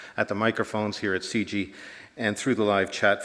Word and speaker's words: CIGI: for international governance innovation or CG as we say my name is